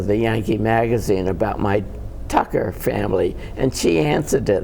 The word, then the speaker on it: Tucker: What's the real pronunciation? Tucker.